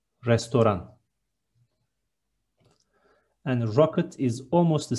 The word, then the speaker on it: restoran: Next one, restaurant is restoran. There is no T in the end, restoran.